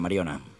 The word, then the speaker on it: Mariona: I jo, per exemple, jo sempre dic Mariona, en català, no m'esforço a, a dir-lo en anglès ni res.